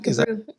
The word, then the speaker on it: Gebru: But I think it's fair to say that, I'm going to pronounce her name wrong. I know it. It's Timnit Gebru? Yeah, Gebru. Gebru.